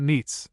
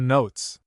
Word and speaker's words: St. Neots: The name of this place is locally pronounced not Neats, but Notes. This last is the correct form, for the name is